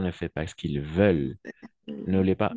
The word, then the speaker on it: veulent: fait pas ce qu'ils veulent ne l'est pas ent à la fin on le prononce jamais veulent préviennent et ici tu peux